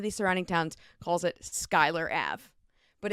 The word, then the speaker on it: Schuyler: so people can see I would say it's like school year julier Schuler but I'm like but we're all like no it's Skyler we live here and